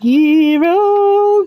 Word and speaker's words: gyro: It's technically pronounced gyro, but I'm still gonna call it a gyro, cause it sounds cooler.